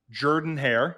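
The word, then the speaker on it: Jordan-Hare: anything again uh he was asked how does Jordan hair if I'm pronouncing that correctly that's correct compare compared to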